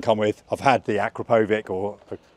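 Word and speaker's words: Akrapovič: I've had the Akrapovic or Akrapovic. How do you pronounce it? Akrapovic. Akrapovic.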